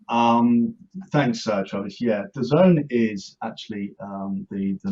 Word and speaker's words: DAZN: chat um first off right daisen doesn't the zone you got it you got it the proper pronunciation you want to know